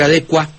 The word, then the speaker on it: adecua: Y respecto a la primera parte, pues yo prefiero, como usted lo mencionó ya en otras ocasiones de redención de significados, decir licua, decir adecua.